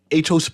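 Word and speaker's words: Aetos: Greek company and I I always try to pronounce that name atos I think let me a e t o s no yes atos Bahamas oh nice atos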